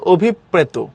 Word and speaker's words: অভিপ্রেত: এটার উচ্চারণ হলো অভিপ্রেত, অর্থাৎ দুইটা প হবে, অভিপ মাঝখানে, রফলা যদি